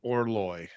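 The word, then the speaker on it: Orloj: I really want to see Orloy. Actually, that's how you pronounce that.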